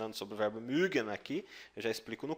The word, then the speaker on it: mögen: Se você colocar o U aqui, mögen, com o O, você só abre um pouquinho mais o biquinho, mögen, tá?